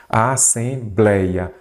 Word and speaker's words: Assembleia: paroxítonas não são acentuadas Assembleia a sílaba forte é a penúltima então aqui eu tenho